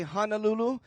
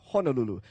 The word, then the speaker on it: Honolulu: the pronunciation of Honolulu so if you do hear anybody say Honolulu it's kind of hard especially if they're kpuna to tell them hey I'm sorry kpuna you're wrong it's Honolulu uh that's kind of